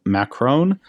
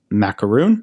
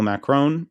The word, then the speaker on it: Macron: Most of you probably know it's a man named Emmanuel Macron, sometimes pronounced Macaroon.